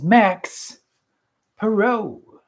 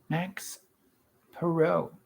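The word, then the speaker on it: Max Parrot: That is Max Perot. Max Perot. Like parrot without the extra T? No. No? It's spelled just like I just spelled just like parrot.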